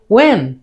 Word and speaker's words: when: রা সাউন্ড থাকে অথবা আর থাকে, তখন সেটা উচ্চারণ হয় না। সেজন্য এটাকে আমরা বলবো ওয়ার, ওয়ার, ওয়ার। এটাকে বলবো, এটা আমরা বলি হোয়েন, এটাকে বলবো ওয়েন, হোয়েন, ওয়েন।